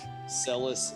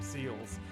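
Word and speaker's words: Celes: and it completely debunks my pronunciation as a child of of c l s being seals and I was always like oh seals seals is such a great character but it's celus or even chis that that's cool okay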